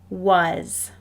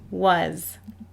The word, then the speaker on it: was: a lot in books this first word does not play fair it looks like but this is the word was when we see this word in our reading it is pronounced was here is another high